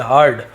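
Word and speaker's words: heard: इट इसके बारे में तो ये हर्ड लिखा हुआ है यर्ड नहीं पढ़ेंगे हर्ड हियर यानी सुनना उसका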